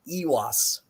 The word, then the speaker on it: Eihwaz: sit and bit and then there's the long e sound in this room ewas and um you can